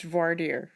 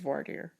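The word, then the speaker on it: voir dire: said is i mean you consistently pronounce voirtier incorrectly it's what are in texas it's voidier what are everywhere it's wardier you better watch us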